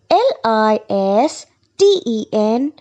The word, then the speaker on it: listen: listen it is not listen it's listen listen l i s t e n listen T is silent n listen F part